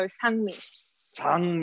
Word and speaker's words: Sangmi: It's in Korean. A is like ah sound, so Sangmi.